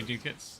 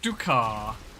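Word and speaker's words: Ducat: duits yeah I used I used to say duits it's pronounced duar I've been I've been watching um recently I've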